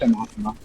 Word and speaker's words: anathema: Yeah, that So yeah, it's pronounced anathema.